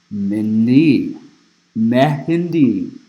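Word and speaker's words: mehndi: the body decorating process known as mindi me it's spelled meeh n di uh it says this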